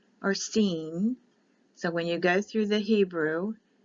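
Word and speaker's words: סין: s or an s i sin c is pronounced like an e so it's sheen or seen so when you go through the hebrew the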